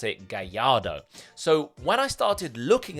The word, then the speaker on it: Gallardo: before that is a Gallardo, or as you pronounce it, Gallardo.